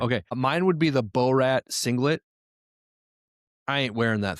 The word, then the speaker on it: Borat: It's Borat. Like Borax.